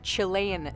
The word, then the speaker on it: Chilean: But he's actually saying Chilean Sea Bass, or Chilean Sea Bass, as I've also heard some other people pronounce it as well.